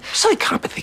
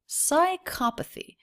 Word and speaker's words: psychopathy: Psychopathy can get a bad rap. Psychopathy. So the stressed syllable here is psycha.